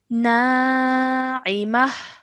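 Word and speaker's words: ناعمة: Okay, so this is a very generic rule that whenever the last letter is ta marbuta, then that will change into a ha sakin. Okay, so now we would read this as na'imah.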